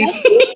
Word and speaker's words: Gomesi: butcher this pronunciation, but the traditional, is it Gomesi? Gomesi? Oh, you got Gomesi? it very right, Ali. Gomesi? Is that it? Yes. Yes. Beautiful. So each of our members will receive their own traditional gomesi to take home.